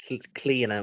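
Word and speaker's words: Clíodhna: Cliona Maloney. So think of it, drop the DH. It's Cliona and pronounce it that way.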